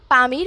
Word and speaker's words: Pamir: সবচেয়ে উঁচু ভূমির নাম পামির মালভূমি স্থানীয় ভাষায় এর উচ্চারণ হচ্ছে পমির যার অর্থ হচ্ছে সূর্যের